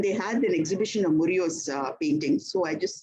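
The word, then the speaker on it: Murillo: Pame I I can't B whatever I can't pronounce his name. Esteban is the second name. Estban Murio. M U R I L L O. I repeat M U R I L L O. Murio.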